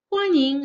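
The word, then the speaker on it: 欢迎: So how we pronounce the sentence is like this. 欢迎来到伦敦.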